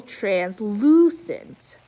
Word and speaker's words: translucent: my lucky number seven the emphasis is on the second syllable translucent look at this upside